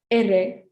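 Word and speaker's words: erre: saw earlier okay so this letter is a bit difficult for some people to pronounce it's pronounced erey so this is this is a trolled r i think that's a term for it so it's like not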